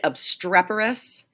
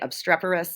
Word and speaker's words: obstreperous: Now we go to my favorite word of the unit, obstreperous. That's how you say it, obstreperous.